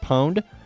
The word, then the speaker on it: pwn: it correctly yes indeed is pronounced Pond but I always pronounce it as Pond cuz when I was a kid and I read it for the first time I never knew how it supposed to be pronounced and so now as an adult I still say pond it's most certainly pwn though get pound ma'am someone